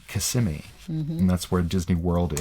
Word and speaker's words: Kissimmee: It's actually in a city called Kissimmee, and it's an Indian word, and it's Kissimmee. It's pronounced Kissimmee, and that's where Disney World is in Florida.